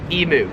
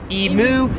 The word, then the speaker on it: emu: just pronounce differently is emu so Americans pronounce it emu Australians pronounce it e mu I recently did a